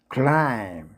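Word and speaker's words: climb: B 발음이 생략되는 몇 개 단어 모아봤습니다. 밤 밤은 폭탄의 의미입니다. 클라임 등산 또는 등산하다라는 뜻이죠.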